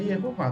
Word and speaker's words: Yehová: visualizarmos como legítimo, no caso, se referindo à pronúncia em português, Jeová, sim, porque sabemos que em hebraico é Yehová, tudo bem.